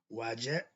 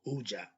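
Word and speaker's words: Wadjet: Okay, the name of the eye, okay, conscious of Haru may be pronounced as Wajet or Ujat, meaning the whole or the restored one, and also that which protects.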